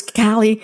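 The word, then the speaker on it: Kali: wanted everyone to know it's cali it's cali with a k not callie with this because i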